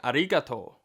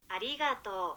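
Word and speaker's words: ありがとう: sound I've never used it's sort of between an r and an l and is more like arato arato it was a grind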